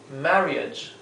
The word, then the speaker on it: marriage: Fíjense que aquí lo he escrito con GH porque el sonido final es J. J. Es una sonido que no tenemos en el español. Y la r, traten de que sea la ronciada con la lengua llevada hacia atrás.